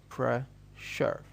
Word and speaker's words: pressure: But when it comes within a word, within a single word, we pronounce it as shar. And I'll give you an example for that. An example is this word. Pressure.